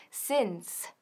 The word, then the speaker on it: since: Bien, aquí tenemos since, otra vez, que ni se pronuncia since, ni synth, sino since, since. Repite conmigo, since.